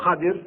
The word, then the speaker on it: Khadir: Khidr did certain things which Musa didn't understand. May God's peace and blessing be upon them. And then Al-Khidr, or Khadir is the actual proper pronunciation of his name, explained to Prophet Musa